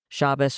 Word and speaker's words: Shabbos: And there are so many people in that space whose only exposure to Shabbos or Shabbat, however you want to pronounce it, or the secret third and fourth ways people are inventing in camp, which is lovely.